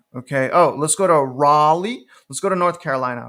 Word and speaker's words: Raleigh: these names but let's go to Riley or Raleigh I'm sorry raw Lee so Raleigh is down